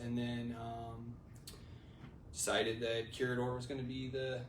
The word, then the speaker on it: Curador: so where where did corridor come from yeah so uh the i guess the actual pronunciation would be curador uh it's a translation